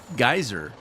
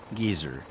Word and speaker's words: geyser: You guys pronounce geyser, geezer. A geyser is, you know, like Old Faithful, shooting water in the air. We call those geysers. You can call them geezers, and I'm looking for an old guy.